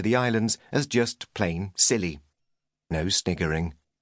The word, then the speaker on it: Scilly: islands as just plain silly. No sniggering. It may be pronounced the same as silly with a silent C, but giggle at your own peril. Nor is it Sicily, which has considerably more takeaway pizza outlets, mafia, and donkeys.